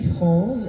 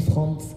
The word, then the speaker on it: Frantz: On peut observer que c'est l'inverse parce que quand on écrit France fan on met TZ et on prononce pas en Martinique le Z tandis que quand on écrit Franz Kafka onécrit pas de th mais on le prononce.